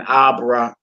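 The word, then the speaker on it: אברהם: Hebrew words are normally pronounced with the accent on the last syllable. So it's just basically saying your emphasis. You know what I'm saying? Instead of saying Abraham or Abraham, you say Abraham.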